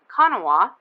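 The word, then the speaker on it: Kanawha: where the ohio and the con kanawa sorry river come together kanawa that's how they say it i always mess that up kanawa this area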